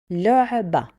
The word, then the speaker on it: لعبة: The last letter we call it تا مربوطة and we pronounce it as a. This is the word لعبة.